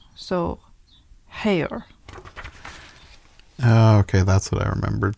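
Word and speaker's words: Haigha: it looks like higa he pronounced it so as to rhyme with mayor so hair okay that's what i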